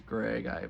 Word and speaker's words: Greig: Or I guess his name is technically pronounced as Greg. Why put the I there?